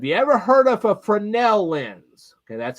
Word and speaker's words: Fresnel: know this is written backwards but this is f r e s n e l have you ever heard of a fresnel lens okay that's how it's pronounced is called fresnel lens I want you